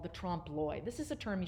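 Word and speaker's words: trompe l'oeil: to deceive the i and that's how you say it say it with me trump loy trump lloyd a lot of people will put the l on the l on the end there don't put the l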